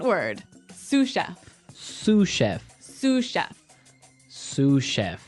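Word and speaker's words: sous chef: Sue cheef. Sue cheef. S o u s. So the s is silent because it's like a French word. Yeah. Something like that. Okay. So the sue chef is the second in line to the head chef.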